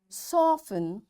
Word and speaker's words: soften: or castle often whistle soften hasten bustle and gourmet. There are different words but in all these words T is silent.